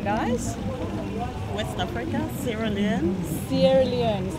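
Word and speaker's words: Sierra Leone: Sierra Leon is how you say it.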